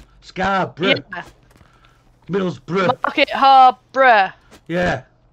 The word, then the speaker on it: Scarborough: And if you say borough on the end of a word, you pronounce it bruh. Scarborough.